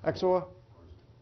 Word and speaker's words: XOR: you pronounce this actually is that how you pronounce it exor either one what's that this is one only